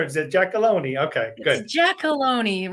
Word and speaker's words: Giacolone: it jackalone okay good jackalone rhymes with baloney in case you ever